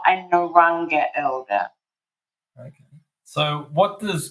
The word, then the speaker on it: Narungga: So you're an elder of the Narungga people. Is that how pronouncing it correctly? It's actually pronounced Narungga, and I'm not actually a Narungga elder.